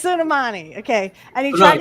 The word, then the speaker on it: Soleimani: Suleimani. It's Soleimani.